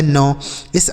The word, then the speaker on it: NICE: N से हो जाता है नौ, इस आई का उच्चारण आई और CE से स, इसे पढ़ेंगे दोस्तों नाइस।